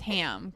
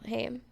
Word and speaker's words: Haim: Haim.